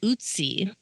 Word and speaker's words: Ötzi: look it up yep so we are gonna talk about uty uty like uty Collins no that's Bootsy Collins so you know like the O from like German yeah so it's spelled o TZ okay uty so that sounds Italian so on September 19th